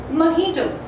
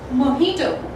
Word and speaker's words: mojito: Mojito. It is over here, this sound. And in the American English the pronunciation goes mojito. Mojito. Repeat after me. It's mojito, the O sound.